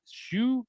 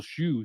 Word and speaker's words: Hsu: Shu, maybe that's why it says Dan Shu, because that's how HSU is pronounced, or close enough for us dumbass Americans.